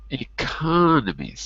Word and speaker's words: economies: economics second EC economics third syllable in the noun but economies second syllable when it's when it's plural economies economies like Brazil